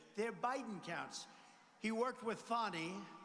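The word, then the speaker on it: Fani: counts he worked with fonnie even though it's spelled Fanny f a n i fny how about that one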